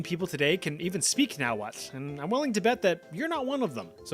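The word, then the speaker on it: Nahuatl: The Mishika had their own language called now what? See that little TL at the end there? It sounds like a just a little right in the kind of like in this word.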